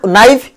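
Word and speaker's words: knife: कथा आज जहाँ को आम देखुचे सुड उड नाइफ जहाँ को आज आम एमती पढ़ुचे गोटे जमाना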